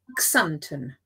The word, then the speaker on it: Xanten: the whole alphabet and this place is called xanthan oh we tried we tried this before and my pronunciation is going to be close possibly okay